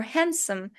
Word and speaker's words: handsome: for example, Wednesday or handsome. As you can tell while pronouncing those words, I'm not saying the D letter. D is silent.